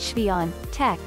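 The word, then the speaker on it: Świątek: mullen usa today sports swyatek pronounced chevy on tech is the first polish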